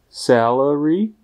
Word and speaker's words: salary: Tady si opravdu dávejte dobrý pozor, abyste u slova salary nevyslovili první samohlásku jako české E. Musí se opravdu jednat o E, tedy o jakousi kombinaci Ačka a Ečka.